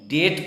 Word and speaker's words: debt: DEBT को हम डेब्ट नहीं डेट पढ़ेंगे, क्योंकि बी के बाद जो टी आ गया है तो बी साइलेंट हो गया है वहां, इसीलिए DOUBT डाउट है, DEBT फिर डेट है।